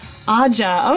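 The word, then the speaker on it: Ahijah: Yeah, spell that out for me in a way that it's pronounced Aja. Okay, see, like, I want to keep getting the I in there. But it doesn't have any sound there, so sorry about that.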